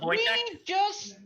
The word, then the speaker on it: Wojtek: It's not pronounced how it's spelled. It's Wojtek.